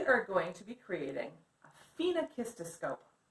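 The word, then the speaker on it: phenakistiscope: moving so we are going to be creating FINA Kista scope FINA kissed a scope it's how you say it now these animation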